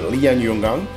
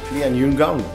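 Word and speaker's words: Lianyungang: We did, that's a tricky one for me to pronounce, but Lian Yongang. I made it wrong. Help me, you can do that online. Ah, that's what I said. Lian Yungang. Oh, my pronunciation was bad.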